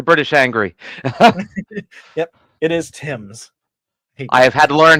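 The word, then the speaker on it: Thames: make the the British angry yep it is Tims I've had to learn how to pronounce Worcester and everything else I I always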